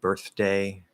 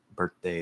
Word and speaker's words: birthday: deep birthday birthday birthday fully enunciated birthday you have to do a regular d regular th but birthday is a very common pronunciation nothing wrong with it it's not informal